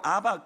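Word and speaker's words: אבא: 아람어로 아빠가 우리말로 아바, 거의 유사한 발음이에요.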